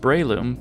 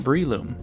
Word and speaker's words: Breloom: It's pronounced Breloom, but I've heard some people call it Breloom, and that's understandable I guess.